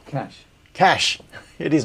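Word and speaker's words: cache: did pronounce it okay apparently only Australians say Cas instead of cash and they mocked for it if working in itl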